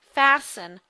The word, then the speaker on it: fasten: the short e sound and fasten without the T so keep that in